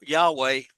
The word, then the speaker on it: Yahweh: of God but um most people don't know how to say it because Hebrew has no Hebrew has no vowels in it it's only consonants but you have to say vowels to say the word right so if you they say they spell it y a we and that's okay but it's not technically correct but vocally it's correct so um and then